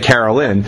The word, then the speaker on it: Caroline: Did you ever think, obviously there was Sweet Caroline, Neil Diamond, obviously not to you, and you pronounce it Carolyn, but did you ever